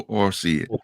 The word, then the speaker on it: Orsi: Is it Orsi? If I Yes. pronounced it right. Roberto Orsi.